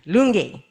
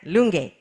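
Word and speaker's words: Lungi: And my people of Sierra Leone will be very annoyed with me if I don't correct your pronunciation of Lunge. That's where you arrived. Lunge. Got it? Lunge. All right.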